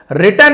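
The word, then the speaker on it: written: Message एक संदेश था रिटन in blood W silent है खून से लिखा हुआ इटरेड इटरेड हम पढ़ते जरूर हैं।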